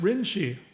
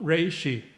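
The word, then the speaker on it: 霊芝: puts in small characters, this is pronounced Rinshi, not Reishi, at Senyuji, and it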